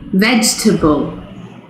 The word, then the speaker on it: vegetable: the same goes for number seven which is not vegetable vegetable not vegetable vegetable vegetable similarly we have number